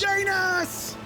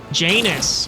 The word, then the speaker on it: Janus: Okay, so Janice, first of all, not the pronunciation I would have chose. Let's be straight up. It's J anus, which isn't fun.